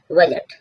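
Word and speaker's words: budget: वह होता है लेखाजोखा बजट यहां जी का जो साउंड आ रहा है बजट डी साइलेंट है बजट मीन्स लेखाजोखा डी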